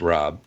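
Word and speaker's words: Raab: Fred Rob is his name is spelled are a a B but it's pronounced Rob we're just talking just the three of us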